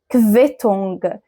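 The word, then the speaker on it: Quittung: تانيه دي كفتونج دي كفيتونج فخلاص اول ما تشوف الاثنين دول مع بعض بيتنطقوا كف كف اخر حاجه معايا النهارده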